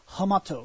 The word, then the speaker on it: Hamato: hummock a gym I the H is barely pronounce because it's Japanese it's Hamato I always like to